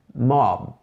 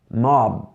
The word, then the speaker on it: mob: Em inglês é mob, mob. Dá para ouvir com que letra eu terminei? Mob. Não é mop com P, não é mot com T, não é mod com D, é mob.